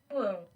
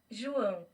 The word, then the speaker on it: João: Joa with a line above it. It's not a flat line either. It's a squiggly line above it. Joao. You got to hold Pronunciation. in Portuguese. Will it play the sound for us? Here we go. João, Huh? João, Joao. Joao.